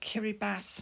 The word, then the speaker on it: Kiribati: It's called Kiribati now, which is spelt Kiribati.